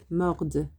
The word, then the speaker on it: mordent: Il, elle mordent. So because you've got this ent after it, you pronounce the D towards the end of that sound, the D in mordre.